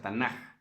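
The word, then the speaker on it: תנ״ך: Si tiene puntito en medio es como una K. Si no tiene el puntito es como una J. Entonces puede ser Tanaj. Se pronuncia Tanaj.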